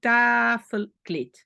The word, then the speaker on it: tafelkleed: Cette syllabe se termine par une voyelle, tafelkleed. Pourquoi le D à la fin est un problème? Parce qu'en néerlandais, à la fin, on dit toujours T. D ou T, on prononce T.